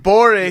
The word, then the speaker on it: Gborie: Ooh, David You Gborie. got to come back with the rock. The G is silent.